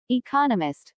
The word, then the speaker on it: economist: so it is emphasized there are four syllables in economist with the stress on the second syllable economist he just finished writing